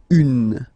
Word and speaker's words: un: And it's easier because if you've you have this n then you pronounce it un.